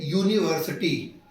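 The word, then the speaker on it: university: जैसे यूनिवर्सिटी, अगर यूनिवर्सिटी को देखा जाए तो यू से स्पेलिंग शुरू होती है, यू क्या है, ए ई आई ओ यू, लेकिन जब इसको हम प्रोनाउंसिएट करते हैं तो यू या किस में आता है, काखा गाघा में या आता है, तो या क्या हो गया, कॉन्सोनेंट साउंड, तो इसलिए उसके पहले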